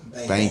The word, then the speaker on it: Banche: You pronounce the name GIUSTINO BANCHE. GIUSTINO Bank.